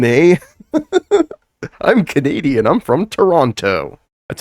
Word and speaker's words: Toronto: I'm from Toronto. That's how you know somebody's not from Toronto. If they say Toronto, you say Toronto. Toronto. Toronto. You don't pronounce the last T.